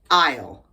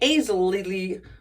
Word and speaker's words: aisle: A-I-S-L-E, aisle, aisle. I know it looks like aisle or aisle, but it's not. It's aisle.